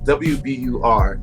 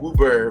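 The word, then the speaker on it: WBUR: what's it called uh w-b-u-r i say uber but people say they get to spell it out yeah you gotta spell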